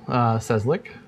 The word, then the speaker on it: Cieslik: It's fairly simple. Cieslik. That's not so bad. That's not what you would guess from the letters.